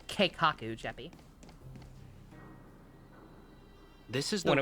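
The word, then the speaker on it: 計画: It's pronounced Keikaku, Jeppy.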